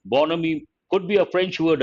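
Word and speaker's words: bonhomie: here h is silent bonomi how do you pronounce this not born homie bonomi bonomi could be a french word again part of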